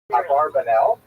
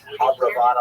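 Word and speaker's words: Abravanel: should mention by the way many people pronounce the same name Barbaranel and that's because of the it's much easier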